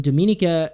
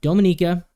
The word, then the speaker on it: Dominica: bronze that's interesting because Dominica excuse me I keep saying it wrong Dominica Dominica um has four points